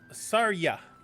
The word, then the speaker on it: Tarja: Okay, so the Fire Emblem's name is supposed to be Sarya. The th becoming a th, and ya being ya.